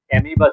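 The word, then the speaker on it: amoeba: হ্যাঁ, সরি এলগে না, sorry, অ্যামিবা ছিল ওটা। অ্যামিবা তো শুনেছো? অ্যামিবা, অ্যামিবা অ্যামিবা শুনেছো? এটা নেক্সট আছে। হ্যাঁ, অ্যামোইবা বলে ওটাকে, লেখার সময় অ্যামোইবা বলে, বাট প্রোনাউন্সিয়েশনটা তোমার অ্যামিবা বলে, AMOE BA, ঠিক আছে?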